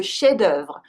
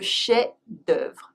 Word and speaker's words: chef-d'œuvre: The main work of an artist is le chef-d'œuvre. Le chef-d'œuvre. We don't pronounce the F.